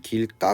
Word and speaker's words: 길가: 이야기다 어려운 경우에는 거죠 우리 길가 같은게 발음하면 길가 가 되거든요 이건 누가봐도 된소리 되기 로 들어갔는데 갑자기 뭐라고 얘기 하니까